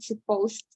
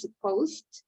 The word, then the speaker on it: supposed: Notice that the pronunciation is supposed. It ends, we're not saying supposed, right? No. We have to take care in the pronunciation. It's supposed. It ends in the letter T.